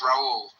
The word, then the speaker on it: Rahul: name R a H Rahul like you know that Brazilian Carina Carina you know you just don't say the H okay it's Raul oh Raul okay thank Uh, what's your favorite beer?